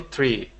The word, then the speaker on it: tree: Sturdy tree. Good, good. Yes, and with this this TR sound, we want to pronounce a chur sound.